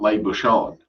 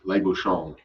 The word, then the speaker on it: Les Bouchons: language What's is that when they end a word with the letter N, like halfway through pronouncing the N, they retreat. So it's not Les Bouchons, it's Les Bouchons.